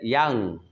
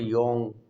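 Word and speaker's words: young: তারপর রয়েছে আমাদের, দেখো আমাদের কি রয়েছে, ইয়াং, ইয়াং অর্থ কি অনেকে বলে ইয়ং, ইয়ং না, উচ্চারণটা হচ্ছে ইয়াং।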